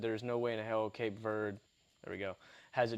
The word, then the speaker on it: Cape Verde: Would be rooting for them, which that's how you pronounce it, by the way. I looked it up. Cape Verde. It's Verde, yes.